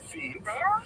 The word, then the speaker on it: Lviv: Like, for example, if you take this town here, which is written in this map as Lviv, that's the Ukrainian pronunciation.